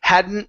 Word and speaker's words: hadn't: uh okay so tuck emphasize more on that n Sound okay and and not pronouncing that t Okay because we have an N right afterwards as well so hadn't noticed hadn't hadn't noticed